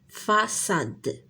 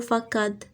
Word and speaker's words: façade: façade façade شنو غنديرو هنايا؟ نديرو هادي باش نطقوها اس façade لحقاش عندنا ا ما يمكنش نديرو فاكاد غنديرو لا سيدي باش نقراوها façade فاسيل فاسيل.